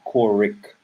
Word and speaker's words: Courick: all kinds of mispronunciations people call me and uh yeah i'm kind of crazy so every every chance i get i tell him my name is core rick okay the children of